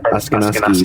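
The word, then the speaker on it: Akwesasne: No, I said I know who that is, but you said Askonasi the right way, the right time.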